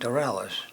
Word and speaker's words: Dorelus: let's see before that am I pronouncing your last name right d d dellis yes sir like a French sounding named dellis okay so before that